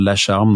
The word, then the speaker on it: Lacharme: Lacharme, donc LACHARME, comme ça se prononce.